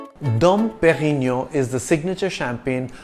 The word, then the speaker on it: Dom: It's a soft D in Dom, and you don't enunciate the N at the end of Perignon.